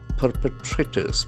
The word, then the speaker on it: perpetrator: Bring perpetrators. P E R P E T R A T O R. It's a beautiful word. Perpetrator. Perpetrator. The accent falls to the first syllable. Perpetrator. There are four syllables.